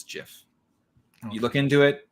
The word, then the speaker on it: GIF: is the Canon It Is by Canon it's Jiff this Canon like Canon cameras Canon no no as in like story Canon is that it's Jiff you look into it it's Jeff well it's